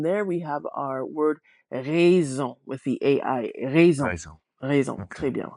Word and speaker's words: raison: So AI a lot of times is going to give us Raison. that E sound. Raison. Mhm. Rhymes with the word for house, which is maison.